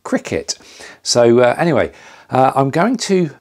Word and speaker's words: Cricut: been calling it the crycut machine because that's how it's spelled c-r-i-c-u-t but apparently you pronounce it cricket so anyway i'm going